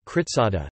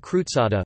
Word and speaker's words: กฤษดา: not krutsana, Vithi rit, not ruit, and Kivsda kritsada, not krutsada, for example.